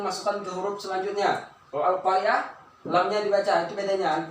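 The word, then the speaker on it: القارعة: Kita lanjut yaitu al-qamariyah, alif lam qamariyah, yaitu al-qari'ah ya. Al-qari'ah. Ya, al-qa. Nah, nih. Ini. Al-qari'atu. Nih, contoh dari alif lam qamariyah. Di mana letak hukum bacaannya? Di sini. Nah, ini alif dan lam, lamnya dibaca al-qa.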